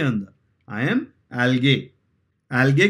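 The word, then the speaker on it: algae: है अंदर आई एम एल्गे एल्गे कि अलगी अलगी बोलते हैं लेकिन स्पेलिंग याद रखना ए एल जी ई ई नहीं है बोलते हैं ऐसे एलगी लेकिन है एल्गे स्पेलिंग का ठीक है इसके बाद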